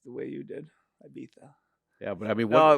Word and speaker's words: Ibiza: Is it Ibiza or Ibiza? How do I say that to be legit? What was the second one? Ibiza or Ibiza? Ibiza. Yeah, that's what I thought.